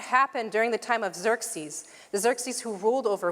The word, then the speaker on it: Xerxes: By the way, I just want to point out Xerxes his name X C R X E S is pronounced Xerxes.